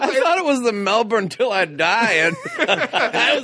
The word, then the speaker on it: Melbourne: from but he misspelled melbourne and instead of m-e-l-b-o-u-r-n-e it was m-e-l-b-r-e-e-n that's closer to the australian pronunciation yeah melbourne melbourne my favorite is the squiggle though because